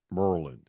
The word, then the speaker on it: Maryland: I have Randolph Childress, and to prove to you just how tied in he is at the University of Maryland, he pronounces it Merlin.